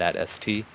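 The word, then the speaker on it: AT-ST: definitely AI um uh dialogue right there at at St at St or some sort yeah it's it's pronounced atst but I mean you know yeah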